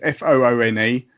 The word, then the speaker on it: Foone: Twitter, which I think his name's pronounced Foon. It's Foone.